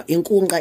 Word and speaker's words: Inkunkqa: Now, Inkunkqa is pronounced Inkunkqa.